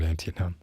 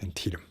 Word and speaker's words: Antietam: battlefields but anyway uh i was still calling it auntie now and when i see the word i still want to do that even though that n does not exist um the second and sentietum it's not antietam either it's antietam anyway that was a